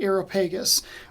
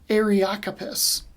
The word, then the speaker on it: Areopagus: where paul went to i called it the aeropagus when it's more correctly pronounced the area occupies maybe that's not a